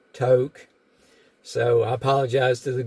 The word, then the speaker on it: Tok: uh told me that it's not talk it's toke so I apologize to